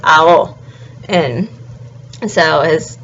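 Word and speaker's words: Aono: next is Rio so his last name is a-o-n-o and you pronounce all the vowels so it's owl and so his name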